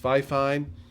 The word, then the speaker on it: Fifine: to be fair to the company it is pronounced fifine i prefer tiffany to call it 50 because